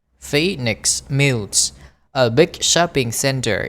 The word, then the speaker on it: Phoenix: At lunchtime, the McDonald's at Mumbai's Phoenix, chúng ta đọc là hai âm y, Phoenix Mills, a big shopping center, is full of college students, mothers and office worker.